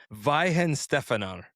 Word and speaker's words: Weihenstephaner: So this is I actually got the pronunciation. I actually looked it up. It's called Weihenstephaner, and it's been brewed since 1040 AD.